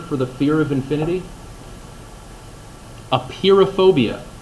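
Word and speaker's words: apeirophobia: the fear of infinity a peer of phobia not spelled like the word appear like tada I just appeared out of nowhere but oh yeah a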